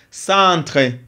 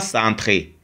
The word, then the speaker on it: centre: leçon en sans centre centre le e ici n'est pas prononcé parce que c'est le e mué c'est pas centré si je mets e dans ce cas je le Je vais lire centré mais ici le e c'est mué centre chat ch on fait